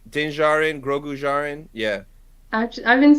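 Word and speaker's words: Din Djarin: just Jordan yeah like denzarin grogujarin yeah I've been saying dindarjan this whole time no the D is silent come on this mandolin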